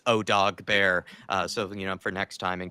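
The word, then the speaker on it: Odobert: By the way, it's not Odebart, Dermatron, it's Odog Bear.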